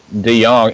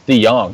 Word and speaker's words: DeJong: I mean, DeJong. Actually, it's DeJong, not DeJong.